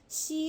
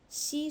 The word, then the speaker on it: 吸: So 吸 and 洗 are same letters but different tones. 吸水 first tone, 洗澡 second tone, and then third tone.